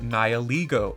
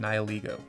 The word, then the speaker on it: Nihilego: But anyways, my other honorable mention today is Bubble Buddy, the Nihilego. I believe that's how you say it, Nihilego.